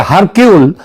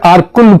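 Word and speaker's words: Hercule: তার গোয়েন্দা আরকুল পোয়ারো এটা যদিও ওই উচ্চার উচ্চারণে এটা হয় হারকিউল কিন্তু একচুয়ালি উচ্চারণটা হচ্ছে আরকুল পোয়ারো তিনি যদি আজ বেঁচে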